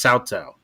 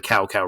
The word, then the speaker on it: Cao Cao: I was hoping they didn't like really go the Cow Cow route, and they didn't. But yeah, Cao Cao.